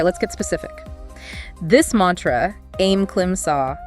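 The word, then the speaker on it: ऐं: First we have aim pronounced aim.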